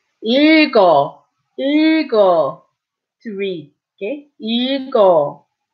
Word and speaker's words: 읽어: But when an 이응 follows it, you go this way again. 읽어, 읽어, to read, okay?